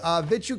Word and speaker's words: Vit: Vitu Kadras, never gonna say it right, says, good day, Sir and chat. Time flies. Also, it's that's right, it's Vit. Just Vit.